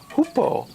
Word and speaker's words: hoopoe: and the large beak was a hoopoe, I think is how it's pronounced, and the name is also a Eurasian hoopoe. It's native to Southeast Asian, Europe, and Asian countries, and it's named after the sound it makes. And and in the morning it hangs out.